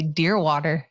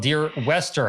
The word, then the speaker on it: Dearwester: getting my name right most people say deer water deer water it's not even spilled deer water it's spelled deer wester how could that possibly